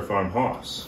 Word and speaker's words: Farmhaus: is it Farmhouse or Farmhouse Farmhouse I'm gonna say it is spelled h-a-u-s I still think it's pronounced house I think it's awesome